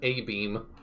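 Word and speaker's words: abîme: Ame is French for abyss, pronounced a beam.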